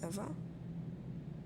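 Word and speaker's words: Ewa: lifeless machine and besides ever is spelled e w a not e v e I thought we agreed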